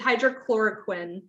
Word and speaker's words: hydroxychloroquine: hydro hydro and nasa if i can pronounce this yeah no problem that's it's hydrochloroquine hydrochloroquine okay awesome so thank you for reading